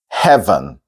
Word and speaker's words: heaven: word is heaven yeah this is similar to a word we looked at before where the e is almost silent so it has a an upside down e there in the oral English spelling in parenthesis so you can go straight to the end from the V so